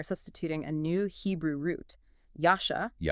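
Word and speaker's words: ישע: Yasha. Yasha. And it is spelled with three letters.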